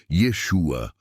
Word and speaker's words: Yeshua: XX siga o verdadeiro profeta Jesus ou na pronúncia Hebraica Yeshua ou yausha e não aos falsos profetas da